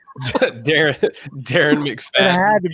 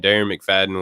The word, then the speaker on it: Darren McFadden: you offline earlier jeff it rhymes with karen mcgladden and that was uh darren mcfadden well and it's not